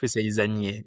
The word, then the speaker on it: Zannier: French, we say Zannier. It's hard. I have quite a few friends, and they say you never the last Yes. letter. You never pronounce it in French, Nicolina.